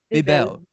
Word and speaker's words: Bebel: Is it Bebel? I'm so bad at pronouncing names. This is terrible. Bebel.